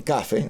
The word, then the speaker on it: café: es adaptada al inglés café que en inglés dicen Cafe lo lo Por más que esté la tilde en la e lo los pronuncian acentuado en la a se refiere no al